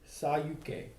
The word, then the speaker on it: Sayuke: No, I do remember it. It's Sayuke.